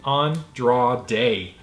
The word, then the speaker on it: Andrade: And I was like, I don't know how to pronounce that. And she spelled it out for me. Thank you. Andrade.